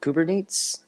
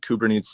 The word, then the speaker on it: Kubernetes: This is a Greek root. It was spelled with a K. So I think the original Greek to English transposing would be Kubernaein, Kubernane. But Kubernetes, that does seem like it would be accurate.